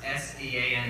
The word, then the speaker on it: Sean: First of all, I'd like to say after 4 years at the college and a few linguistic classes, S-E-A-N is pronounced Sean.